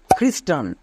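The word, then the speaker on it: Christian: কেন পড়ছি মনে রাখবা সিএইচ এর উচ্চারণ কিছু কিছু ক্ষেত্রে খো এর মতো হয় যেমন ক্রিসমাস খ্রিস্টান এবার চার নম্বর টিপসটি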